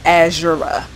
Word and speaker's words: Azera: have Riley Azera yeah it's pronounced azur not any other way that you were probably thinking of um I know